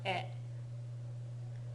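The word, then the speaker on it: へ: Yeah, it's pronounced e. E.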